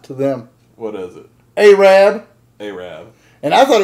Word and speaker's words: Arab: a little town south of Huntsville Alabama it is spelled a Rab that word is Arab yeah not to them what is it a rad they Rev and I thought it was like